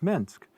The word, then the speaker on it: Minsk: it's a little town called Minsk which rhymes with pinsk which has nothing to do with Minsk but was the birthplace